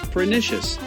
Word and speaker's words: pernicious: So you'd pronounce it roughly like pernicious with the emphasis on the NISSH part.